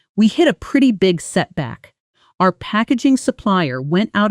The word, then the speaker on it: setback: Notice the compound stress. Setback. Both parts clear but the first slightly stronger.